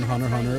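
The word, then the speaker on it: Hunter × Hunter: Because apparently the X is silent in Hunter Hunter and Spy Family.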